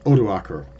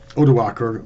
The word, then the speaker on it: Odoacer: And we come across a man named Odoacer, or Odovacar, depending on how you pronounce it.